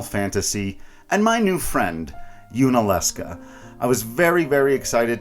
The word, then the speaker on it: Yunaleska: Yunaleska, Yunaleska.